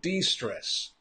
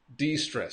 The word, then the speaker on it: de-stress: So de-stress. De-stress. So the pronunciation de-stress. When you want to reduce your stress, you want to relax, you want to de-stress. De-stress.